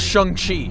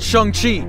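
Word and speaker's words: Shang-Chi: tea first of all it's pronounced Shang Chi and second of all that's not shung Chi that's the new Doctor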